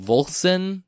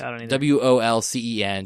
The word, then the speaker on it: Wolcen: And it's called Volcen. I don't know how to pronounce it. It's Wolcen.